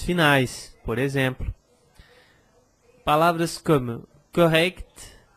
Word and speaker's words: correct: Por exemplo, palavras como correct, exact, eu preciso pronunciar esse kt, kt.